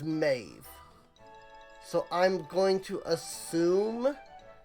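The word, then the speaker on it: Medb: And I am looking at another name that that's spelled M-E-D-B, and then right next to it it says Maeve.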